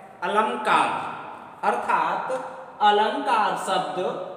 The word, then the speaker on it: अलंकार: पर लिखा है अलंकार शुद्ध रूप से इसका उच्चारण किया जाए तो अनुस्वार लगा हुआ है अलंकार अर्थात अलंकार शब्द ने